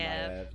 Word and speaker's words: Maiev: I always thought it was Maeve. It's apparently Maiev.